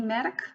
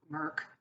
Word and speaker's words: Merck: hands of the family medic or merck that's how you pronounce it but five till ten